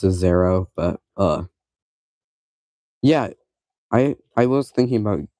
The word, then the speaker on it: Xero: like For some reason, I really like Xero. That's how I pronounce it. Some people pronounce it Zero, some people pronounce it Exero, uh something weird. I don't know. I I pronounce it Zero, but uh Yeah, I